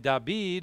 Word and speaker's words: David: the greek and then dabeed or david as we would say and again in the greek and in hebrew again the d and the b are the same letter and they can pronounce